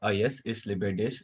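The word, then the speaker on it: A Yes Ich Liebe Dich: I'm the co-author of Ayes Ish Libedish. That is how it's pronounced.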